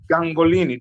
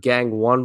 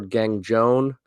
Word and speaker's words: Gangone: pronunciation of the name ah no I was actually the first time I've ever heard it that way I've heard gang one before of her gang Joan gang Goni but it's just gang goon